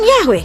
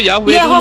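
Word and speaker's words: Yahweh: Bacanya kan Yahwe secara akademis kan memang bacanya Yahwe.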